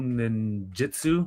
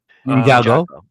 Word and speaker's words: Ninjago: The Lego Ninjutsu, if I'm not mistaken. Did I said it right? Ninjago.